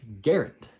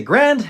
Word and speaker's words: Garand: Guys, his name was John Garand. At least that's what his family says is the correct pronunciation, or closest to the correct pronunciation. It rhymes with errand.